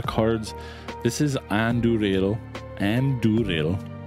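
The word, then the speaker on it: Andúril: this is Andrew and durale pretty sure you roll your R in that flame of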